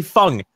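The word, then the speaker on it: Feng: Fung Mel Fung mouth people get so triggered when I say Fung that's how you pronounce it it's Chinese it's a Chinese name Fung now get over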